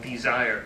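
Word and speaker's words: DSIRE: It's a site called Desire, actually, but it's spelled D-S-I-R-E.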